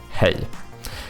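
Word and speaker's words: hej: go with the with the classic hey um, which is pronounced more like, you know, it's pretty much almost the same as the English. Like we we do soft J. So it's it's pretty much a a Y at that point when I Ya.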